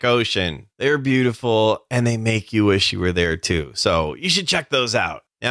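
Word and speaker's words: Meike: for four hundred and forty nine dollars u.s makey i tell you and that's m-e-i-k-e that's how you pronounce it makey it seems like every other week or so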